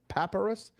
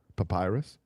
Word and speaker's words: Papyrus: Paparus. Is it Papyrus or Paparus? Paparus or Papyrus? Papyrus. Papyrus. Gab's helping me learn how to pronounce not like you know how many things I pronounce wrong.